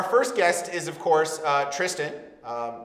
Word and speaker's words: Tristan: Our first guest is, of course, Tristan. That is how you say it, right? Tristan? Yes, that's how you say my name. Excellent. Tristan. Tristan? Tristan. If you're French, you could say it as Tristan.